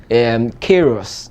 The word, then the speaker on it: Queiroz: So it's a Portuguese name. Okay. So Queiroz. Okay, Queiroz. Queiroz.